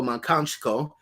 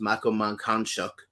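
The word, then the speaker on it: Mankanshoku: so there's people like uh ryoko's friend mako makanchiko and uh that's actually incorrect it's pronounced makaman khan shock um but her name is very difficult to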